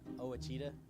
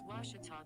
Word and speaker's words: Ouachita: washington sports digital network i've heard people say oh a cheetah oh wichita oh a cheetah is it pronounced searching for washi at a baptist university back in texas everybody pronounces it wichita but really it's ouachita washington washington how would